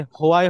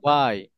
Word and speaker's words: why: ঠিক তদ্রুপভাবে এখানে হোয়াই হবে না, এটা কি হবে? ওয়াই ওয়াই, why আমরা বলি কি why হোয়াই হোয়াই why ডু ইউ go there brother, হোয়াই নো, এটা হবে ওয়াই।